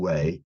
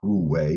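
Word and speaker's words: wu wei: most the most important one is called way and of course it's spelled w-u-d-w-e-i so of course you would think is who way but oh France go away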